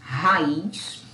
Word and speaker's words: raiz: Ela é uma sílaba, ela é uma palavra oxítona, a sílaba mais forte é o is, raiz, e ela não tem acento, mesmo a gente tendo um hiato, ok?